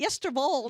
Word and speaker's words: Oosterwolde: Yesterwoord. Oosterwolde. Ja, Yesterwoord. Is that how you say it? Yesterwold.